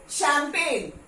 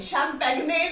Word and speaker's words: champagne: ये शैंपेन, शैंपेन, शैंपेग्ने नहीं बोलते।